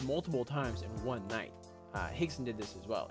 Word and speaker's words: Rickson: Royce with an R. Rickson is also with an R. That's just how they say it in Brazilian Portuguese.